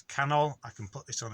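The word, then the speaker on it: canol: i have so it's cannell i can put this on a screen because you just say it in english and you'll pronounce it properly so can ol camel or camel adrev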